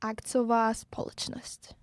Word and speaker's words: akciová společnost: Corporation in Czech Republic, oh my god, God forbid me for my Czech pronunciation, akciová společnost.